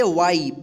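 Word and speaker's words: way: तो इसका पूरा हम उच्चारण करेंगे पे। क्या पढ़ेंगे? पी ए वाई पे यानी ए के जस्ट बाद यानी लास्ट में वाई या आई रहे तब क्या पढ़ेंगे उसको?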